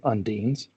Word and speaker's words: undines: Okay, so the sconces take the form of a seahorse with a human face, and you know these to be undines, or some people pronounce it undines.